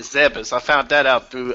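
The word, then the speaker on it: Zebes: But yeah, like I said, I Yeah, that for the longest time I thought it was Planet Z, but no, it's Planet Zebas.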